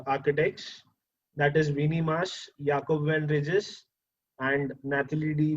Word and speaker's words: Jacob: So the spelling of Jacob is J-A-C-O-B. You would normally call it as Jacob, but these guys are Dutch, so they call it as Jacob, or it's pronounced as Jacob.